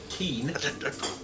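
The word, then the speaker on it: Kyin: Keen. Keen, yes, it's K-Y-I-N, Keen. K-Y-I-N. Gee. Yes. Keen. Keen. Just Keen. With a little bit of a twang, but Keen. It's pronounced K-E-E-N.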